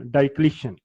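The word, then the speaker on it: Diocletian: इसमें आपने ओ जो है आई के बाद इसको प्रोनाउंस नहीं करना. डाइक्लिशन.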